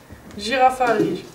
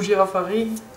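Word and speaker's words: Girafarig: Girafari, ou Girafari, selon la prononciation que les gens disent. On dit les deux apparemment.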